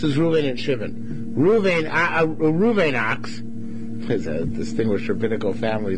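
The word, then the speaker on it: Ochs: Reuven ox, is a distinguished rabbinical family, Toronto, the Ox family. Well, it's not spelled that way, it's spelled O-C-H-S. Anyway, right, like Ox, right.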